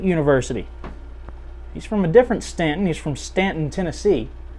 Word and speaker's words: Staunton: Now here in Staunton, Virginia, they do have the U, but it is not pronounced Staunton, it is Staunton.